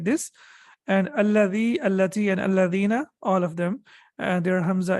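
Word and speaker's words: الذين: So whenever you connect it, you don't pronounce it. It is always to be read like this. And alladhi, allati, and alladhina, all of them, their hamza is hamzatul wasl.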